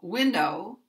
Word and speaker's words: window: Now, there's also stress on the first syllable of window because stress will go